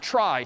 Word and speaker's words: trie: weird name and pronunciation short for retrieval pronounced try typically a try is